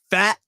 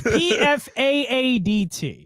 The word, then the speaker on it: Pfaadt: I don't even know how to pronounce name. his name. So Brandon Fat, maybe it's hard. We'll just say it's Pfaadt.